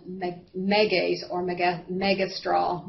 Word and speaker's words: megestrol: me megas or me megestrol megestrol depending on how you want to where you want to put the emphasis on the syllable um it is also